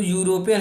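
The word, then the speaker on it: European: इसी तरह हमारा यूरोपियन, जो यूरोपियन है, जब इसे प्रोनाउंस करते हैं तो ये हमारा वाई साउंड से स्टार्ट होता है, इसीलिए हमने यहाँ पे एन किया है।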